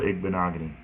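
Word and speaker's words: Igbinoghene: I pronounce NFL players' names is funny. Say Noah Igbenogany.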